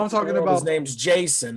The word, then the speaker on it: Jaxson: No, I'm talking about his name's Jason. They just spelled it JAXSON, and I'm just telling the world the X is silent.